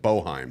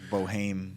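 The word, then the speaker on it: Boeheim: it and it says it looks like boheim yeah it's like Boheme yeah but he retired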